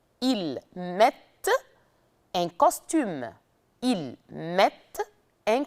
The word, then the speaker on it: mettent: Je mets, tu mets, il met, elle met, nous mettons, vous mettez, il avec S, elle avec S, mettent. Mais on ne prononce pas le ENT.